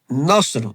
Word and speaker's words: نصر: Nasr with Saad pronounced strongly with thicker voice, meaning is help or victory. And the Nasr with Seen pronounced lightly, meaning vulture.